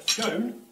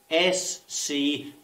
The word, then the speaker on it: scone: A scone? Firstly, what are they called? Or to be more precise, how does one pronounce S-C-O-N-E? O-N-E. Is it scone or scone?